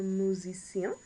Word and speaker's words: musicien: So when an S comes between 2 vowels, you get that Z sound, that Z, rather than a S sound.